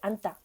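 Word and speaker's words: 앉다: Mais par contre, pour prononcer, on ne prononce pas du tout ji. Donc ça fait anta.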